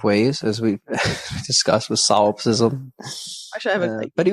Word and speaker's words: solipsism: Solipsism.